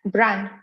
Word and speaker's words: Bran: and I want to go check out the Bran Castle. So did I pronounce that correctly? Yeah, Bran.